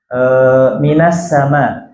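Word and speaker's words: مِنَ السَّمَاءِ: Contoh misalkan ibu-ibu baca Al-Quran, minas sama. Asalnya kan min as-sama. Asalnya min as-sama, diberikan harokat fathah di minnya. Minas sama.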